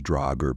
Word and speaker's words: draugr: The original form of the word is pronounced as dragger, but later in old Norse Danish and Swedish it began to be simply recorded as drag.